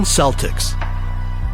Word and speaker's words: Celtics: But why are they pronouncing it with an S sound, not a K sound?